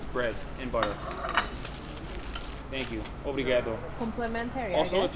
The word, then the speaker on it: obrigado: Obrigado. Complimentary. Also, I guess. if you want to sound like a local, you don't say obrigado, you say obrigado. They seem to Obrigado. drop the first O.